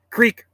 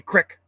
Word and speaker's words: creek: to get my ruger creek we say creek some people say crick we're gonna go to